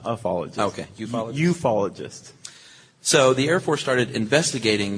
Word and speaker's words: ufologist: That's what ufologists have been talking about, right? Is that how that's pronounced? Yes, ufology. Okay, because I kept saying UFOologist, and that's like saying Do you refer to the IRS as the ERS?